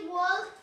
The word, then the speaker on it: walked: Acuérdate que la L no me la pronuncie ni ahí porque es fatality. Mortal Kombat. Fatal. Yes, okay. Walk, no walk. Walked. Repeat. Walked. Es muda esa L, ¿eh?